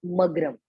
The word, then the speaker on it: मग्रम: म, म ग्र म, लास्ट का शब्द मग्रम। तो कैसे बोलेंगे? प्रसीद प्रभु दुख जालाब्धि मग्रम, प्रसीद प्रभु दुख जालाब्धि मग्रम, जालाब्धि मग्रम, जालाब्धि मग्रम, जालाब्धि मग्रम, मग्रम। Okay, very good. इसको आपको ऐसे प्रोनाउंसिएशन ऐसा होना चाहिए। चलिए मेरे साथ सेकंड वाली लाइन 3 बार बोलेंगे।